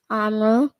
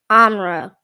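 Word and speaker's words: Amhra: be speaking oh okay now what's your name amelle sorry about that amra one more time amra amra spell that for me a m h r a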